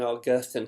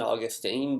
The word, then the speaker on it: Augustine: Augustine, but my church history professor at Beeson was a good Brit, so I learned to pronounce it Augustine.